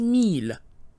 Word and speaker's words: mille: So here we have the number 1000, which is mille.